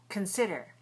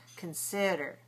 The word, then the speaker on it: consider: Consider. Now, don't say consider. The first syllable is a schwah or i. Con. Very short. Consider.